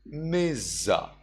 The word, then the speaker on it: majja: In English, what you see here is majja. But in Burmese pronunciation, we read it as mizza.